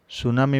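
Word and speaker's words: tsunami: अतिशेष spelling चालू होता है पर प्रोनुंसिएशन मिट्टी साइलेंट है सुनामी वैसे देखा जाए तो जापान का वड़े जापान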